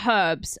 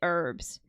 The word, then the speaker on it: herbs: just the way but we do say herbs and not like I'm sorry I hate it when Americans say herbs come on dude that H is not silent okay come on cooked